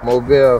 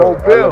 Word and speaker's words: Mobile: Mobile, for sure. Mobile. Alabama, yeah. That's how you pronounce it.